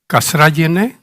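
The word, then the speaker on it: Kazragienė: Ambassador Rita Kasrajene is the pronunciation.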